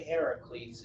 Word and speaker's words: Heracles: So it's actually Heracles, and the Greek pronunciation is actually Heracles.